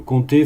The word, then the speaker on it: compter: Là, c'est le verbe compter, faites attention, hein, il a une consonne muette dans le son qu'on prononce rarement.